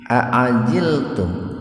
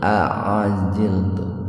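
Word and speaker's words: أعجلتم: Aajiltum. Aajilum. Nah, ini perpaduan antara huruf hamzah dengan ain. Jadi jangan bacanya jangan begini. Aajiltum atau jangan aajiltum gitu. Aajil. Aajilum. Hamzah baru naik.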